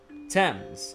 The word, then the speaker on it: Thames: Thames, apparently, according to Google.